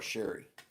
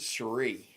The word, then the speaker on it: Cherie: People still call her Sherry. She spells it like Sherry, but she pronounces it Cherie.